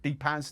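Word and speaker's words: Depaz: heard of I haven't got any here but d-paz d e p a Zeds they are strictly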